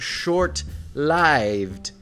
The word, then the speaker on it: short-lived: That is why pronunciation authorities and careful speakers have long preferred short-lived and long-lived, and why nearly all current American dictionaries give priority to the long I pronunciation.